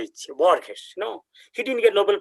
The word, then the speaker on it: Borges: I'm not pronouncing his name right away. It's called Borges. Borgsh. Borges.